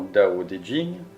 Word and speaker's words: Tao Te Ching: Le Tao Te Ching, prononcé approximativement Dao De Jing, peut être traduit par